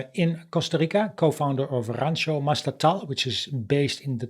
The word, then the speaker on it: Mastatal: Is there a different pronunciation for that, or is it about right? Yeah, no, that's correct. Rancho Mastatal. Rancho Mastatal.